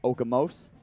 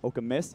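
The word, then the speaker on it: Okemos: up to tai yuziak okamus michigan a lot of people try to pronounce that okamose okamis here to tell you zion beaton does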